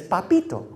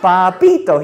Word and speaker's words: Papito: to say it but he couldn't say it like my grandmother he said no no no he said oh papito he said sounds like dorito i went home i